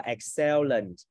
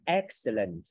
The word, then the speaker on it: excellent: Rất nhiều bạn đọc là excellent. Ai đọc là excellent gửi bông hoa đi. Đọc là excellent con nha. Excellent. Nhấn âm một.